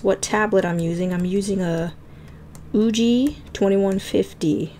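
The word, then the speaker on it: Ugee: So, if you guys are curious what tablet I'm using a Uji 2150. Uji spelled like U-G-E-E.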